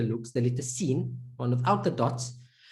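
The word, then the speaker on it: سين: letter looks the little scene one without the dots the name is seen that's literally the name like when you say i've seen that's exactly how the letter's name is pronounced scene and obviously we look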